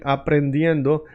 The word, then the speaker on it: aprendiendo: Right now, we are learning, aprendiendo. Aprendiendo is a bit of a long word. Aprendiendo, 4 syllables, okay?